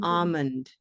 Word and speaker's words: almond: Almond with no L. Almond. Or almond without the D at the end.